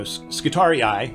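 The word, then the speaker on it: Skitarii: are um you know skittari eye which is how you pronounce scitorius plurally so they're actually bad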